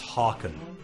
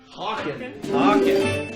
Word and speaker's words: Hawken: Oh, and if you actually want to pronounce my name... It's hard at the same time. See, we both got it wrong. It's Hawken. Hawken. There we go.